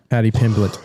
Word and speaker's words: Pimblett: Paddy Pimblett.